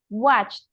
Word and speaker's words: watched: Gabriela just one thing this one the pronunciation watched like with a t watched watch very good watch